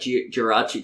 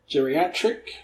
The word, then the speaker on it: Jirachi: Geriatric? That's not it. Spell it. Jiraich. Oh, no, there's no I before the CH. So it's Jirachi. Jirachi.